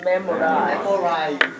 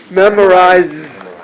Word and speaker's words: memorize: Another one hard is memorize. Memorize. Again, z. No vocal cord. Z. 이분은 발음. Memorize.